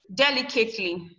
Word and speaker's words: delicately: You stress it at the 3rd syllable. 1, 2, 3. Delicately. Delicately. Your li is the one that is stressed.